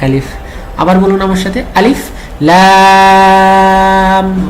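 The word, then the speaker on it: الٓر: আলিফ লাম ওকে আরেকবার এইযে এখানে মিয়াজিব আদায় করতে হবে আর রতে এক আলিফ আর লামের চার আলিফ আলিফে কোন টান নাই ওকে বলুন আমার সাথে আলিফ লাম মাশাল্লাহ চতুর্থ সেট সাত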